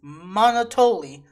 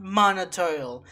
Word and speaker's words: Monotoli: me that I've been calling Monotoli wrong this entire time. It's Monotoli, not Monotoil.